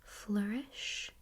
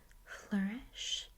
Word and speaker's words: flourish: Okay, I would say this word is pronounced flourish. Flourish.